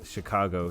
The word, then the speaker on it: Chicago: go Chicago and so when she says Chicago she pronounces it car like a car like a car you drive and then go so yeah fifty million